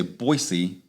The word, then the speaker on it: Boise: because if you say boise you're from there if you say boise with a z yes they know you're